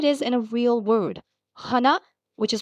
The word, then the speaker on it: は: H plus A gives you ha. It's a perfect little visual cue. And look at that. Here it is in a real word. Hana, which is pronounced hana, it means flower.